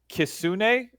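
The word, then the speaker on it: kitsune: And as well we're doing some of the more popular ones except for kisune. Kristune. How do you pronounce that?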